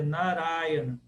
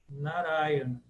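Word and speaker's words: Nārāyaṇa: uma vogal longa mas no caso da pronúncia contemporânea da palavra é narayana narayana como se fosse pró paroxítona mas no sânscrito clássico não é proparoxítona é duas longas e duas Breves narai é para nós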